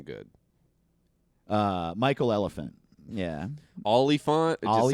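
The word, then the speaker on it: Olyphant: He and Timothy Elephant look similar when they have mustaches and are sheriffs. Yeah. I like Timothy Oliphant. He's great. I don't know how to say his name good. Michael Elephant. Yeah. Oliphant?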